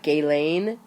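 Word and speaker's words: Ghislaine: to pronounce her name I've heard it sort of like gay Lane Maxwell it may be closer to that than the way I just pronounced it Khafre accused Maxwell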